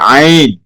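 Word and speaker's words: عين: ইনশাআল্লাহ আইন জি এটা একটু গলার ভিতর থেকে হবে। ঠিক আছে? জি। আইন আইন এটা একটু মোটা হরফ।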